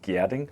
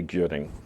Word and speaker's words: Gjerding: So it's pronounced Gjerding, but most English-speaking people will say Gjerding. It's just the GJ is a little hard.